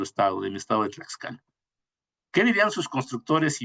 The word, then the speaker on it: Tlaxcala: De hecho, así se pronuncia el ingeniero Brian. Tlaxcala, cuna de la nación en México.